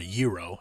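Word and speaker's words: gyro: I'm going to get myself a gro or a yurro as everyone else likes to pronounce it.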